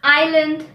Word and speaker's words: island: in the british accent the letter s is silent before an l in the following words island i'll debri the letter